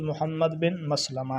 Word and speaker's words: محمد بن مسلمہ: رضی اللہ تعالیٰ عنہ۔ کچھ اس کو اور انداز سے پڑھتے ہیں، تو درست تلفظ محمد بن مسلمہ ہے۔ اگلا لفظ ہے نعیم